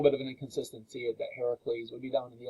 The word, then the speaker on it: Heracles: He meets Heracles. That's another name for Hercules. That's a Greek way of pronouncing Hercules.